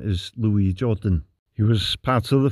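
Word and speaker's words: Louis Jourdan: the correct pronunciation of his name is Louis Jordan he was part of the French Resistance during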